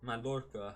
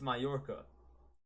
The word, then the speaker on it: Mallorca: had lost to mayorka madorka how do you say this I think it's Mallorca that's how you pronounce it but um but yeah